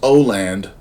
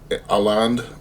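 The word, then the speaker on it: Åland: some point someone told me that this is pronounced oand uh but really it's Al aland anyways Jesus criminy so um not to be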